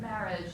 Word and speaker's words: marriage: simply programmed in, in the word marriage, the emphasis is on the first syllable, and it's always something